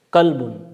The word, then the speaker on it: قلب: قلب، یہ لفظ ہے قلب۔ اگر ہم قاف کو موٹا پڑھیں گے تو اس کا مطلب ہوگا دل، لیکن اگر ہم قاف کو باریک پڑھیں گے تو اس کا مطلب ہوگا کتا۔ یہ دیکھیں، تو ایک